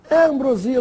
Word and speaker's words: ambrosia: acordo em brasília ou ambrosia essa é a pronúncia correta ambrosio via ambrosia do doce do alimento dos deuses gregos ambrosia na aba de